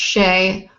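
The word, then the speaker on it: Che: C H E pronounced Shay.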